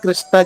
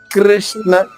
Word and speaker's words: కృష్ణ: క్ర మీరు కృష్ణ అంటే కృ అనగానే పెదవులు ముందుకు సాగాలి క్రి అంటే అంటే పక్కకు సాగాలి క్రి తప్పు కృ తప్పు రెండు తప్పే పెదవల్లో కదలిక రాకుండా కృష్ణ చెప్పాలి. నకాంక్షే విజయం కృష్ణ కృష్ణ చూడండి నా పెదవులు